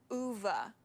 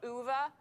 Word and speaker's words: Ove: you guys it is a man called UA UA is it UA or U UA apparently Eric and I were checking I think that's the correct pronunciation UA I had to check so this is a